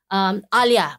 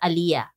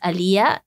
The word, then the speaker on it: Aliyah: They used to call me Alia. Yeah. Alia. Yeah. Okay. But actually my name is pronounced Alia. Right. Okay. So it's Alia.